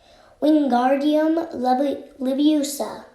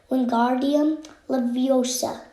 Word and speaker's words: Wingardium Leviosa: Wingardium Leviosa, he shouted, waving his long arms like windmills. You're saying it wrong, Harry heard Hermione snap. It's Wingardium Leviosa. Make the gar nice and long.